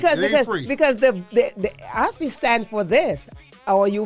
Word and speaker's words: Ayfe: So it's pronounced Affy.